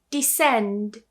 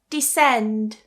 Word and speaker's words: descend: Descend. Descend.